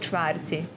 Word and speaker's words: čvarci: It's called čvarci.